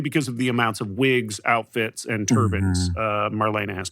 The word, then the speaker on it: Wiig: I just say wig, but I say wait, but I mean, you're pronouncing it the same way you would if she was a Nintendo Wii, so maybe you're right.